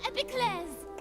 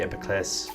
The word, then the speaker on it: Epiclese: of stages, the Opera Epiclese. I hate that they say epiclese. It's epiclese. Anyway, that's how French people would pronounce it anyway.